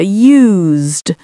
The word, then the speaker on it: used: And you may have noticed when I said that, I made more of an S sound here, used. Whereas with this one, it has a sort of Z, to use, use.